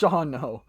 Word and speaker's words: Shawano: ouch try pronouncing it it's either shauno or shawano shawano oh shano ishano okay it's shawno why why is there that second a that second a should be silent sean no sean no